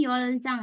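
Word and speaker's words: 열 장: Ya, harusnya ini yoljang ya, yoljang. Oke. Di sini harusnya yoljang.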